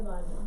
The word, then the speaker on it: baño: copied for me, but baño has the little tilde, what they call a tilde. It's a little curvy line over the N, and that's how you get the y sound. Baño. Gotta have a y, baño in there.